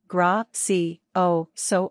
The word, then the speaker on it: gracioso: Pronunciation, gra-si-o-so or gra-si-o-sa.